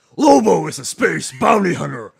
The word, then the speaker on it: Lobo: Bounty Hunter sorry cam you have to say it like this Lobo is a space bounty